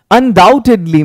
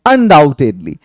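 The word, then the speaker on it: undoubtedly: नहीं, no problem, बेशक, अनडाउटेडली में बी साइलेंट होता है, मतलब कोई शक नहीं इसमें, अनडाउटेडली।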